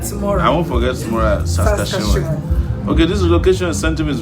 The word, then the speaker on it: Saskatchewan: Okay, somebody has taught me how to pronounce Saskatchewan. Saskatchewan. You'll forget tomorrow. I won't forget tomorrow. Saskatchewan.